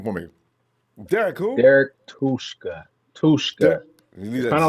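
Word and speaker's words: Tuszka: Hey, pronounce his name for me. Derek who? Derek Tushka.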